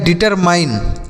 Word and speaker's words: determine: तो DE से D, TER से टर, MINE को माइन पढ़ेंगे। तो यह लिखा गया डिटरमाइन, क्या हो जाएगा दोस्तों, डिटरमाइन।